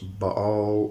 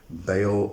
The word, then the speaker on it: Baal: To get a better idea of who Beelzebub is, we should probably look at Baal or Baal or Baal. There's various different ways we can actually pronounce that.